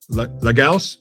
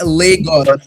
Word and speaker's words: Lagos: Legals. No, God damn it. Now I'm in my head about it. Legos. It's Legos.